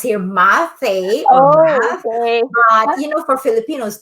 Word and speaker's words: Mathe: yes i am my name is uh always pronounced here mathe oh you know for filipinos they call me mate yeah i forgot i should have asked you